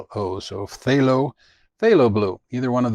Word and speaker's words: phthalo: is cerulean blue or i never know how to pronounce this but it's p-t-h-a-l-o so phthalo phthalo blue either one